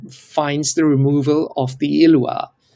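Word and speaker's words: Ilois: High Court uh finds the removal of the ilwa. How do I pronounce it? Ilwa. Pronouncing it per perfectly.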